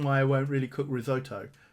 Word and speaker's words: risotto: I won't really cook risotto risotto I'm picking up the American pronunciation there ahem because I can't